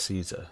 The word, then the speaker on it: Caesar: I am the greatest of Kaisar's frumentari. It was not a challenge to find you. Nor is this my first visit to the Strip. Okay, why does Kaisar... And I believe it's pronounced Caesar, but why does Kaisar want to see me?